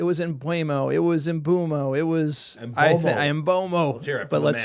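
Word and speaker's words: Mbeumo: It was Embomo. It was Embomo. But let's hear it from the man himself. How do you pronounce the name? Brian Bumo.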